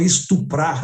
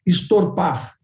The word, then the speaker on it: estuprar: E ele olhou para mim, eu fiz várias perguntas e ele respondeu, doutora, se eu sair, eles não falam estuprar, né? Eles pronunciam errado, eles falam estorpar.